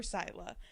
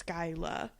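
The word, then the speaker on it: Scylla: But I did remember Sila. Um because I have always said it in my brain as Skyla.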